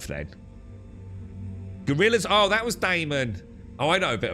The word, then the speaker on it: Damon: Damon, not Damien.